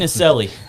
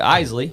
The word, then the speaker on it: Isley: Yeah, Isley, and it's a Swiss pronunciation.